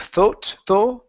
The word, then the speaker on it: thought: Instead of thought, it's an ah sound here.